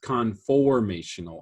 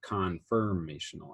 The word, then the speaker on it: conformational: like the details conf it's conformational isomer not confirmational isomer okay so i did